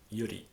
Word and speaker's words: Yuri: is like gay um Yuri which is um it should be actually I pronounce that yui it would be a better pronunciation which is lesbian um